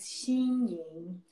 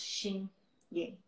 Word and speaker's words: Xin Ying: My name is Xin Ying. It's really hard to pronounce, but I try really hard to teach people, Xin Ying. Even it's spelled Xin, but actually pronounced Xin Ying.